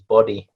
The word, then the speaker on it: BODI: And the name of that is Body, which is spelled BODI. So it's a slightly different spelling to Body, but yeah, it's I'll